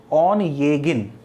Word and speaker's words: Onegin: तो ध्यान प्रोनाउंसिएशन ध्यान रखना, आपको ONEGIN इसका प्रोनाउंसिएशन होगा ऑन येगिन। आपको जैसे ट्रांसक्रिप्शन आ ही गया तो मैं आपको लिख ही देता हूँ, ऑन येगिन, ऑन येगिन, ये इसका प्रोनाउंसिएशन है ना।